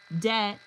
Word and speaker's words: debt: Debt. Silent B, borrowed from Latin, island, silent S, added by mistake, and a myriad of other spellings that whisper of history long past.